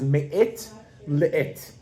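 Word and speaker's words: מעת לעת: In Hebrew, and I'll pronounce it first with the modern Hebrew accent, is me'it le'it.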